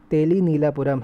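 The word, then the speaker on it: Telineelapuram: तो इसको फिर से देख लीजिए, प्रोनाउंसिएशन इसका तेलीनीलापुरम है।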